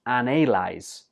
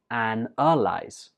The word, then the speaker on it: analyze: Some students pronounce this as analyze because in the spelling it has an A, but when we're speaking we just pronounce it analyze.